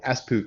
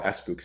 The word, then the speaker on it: Espoo: convention is called the espoo convention e-s-p-o-o now i think it's pronounced differently it's finnish i think espoo i'm